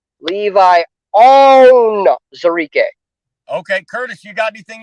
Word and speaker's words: Levi Onwuzurike: some fans that have a hard time with pronouncing names. Levi Onwuzurike.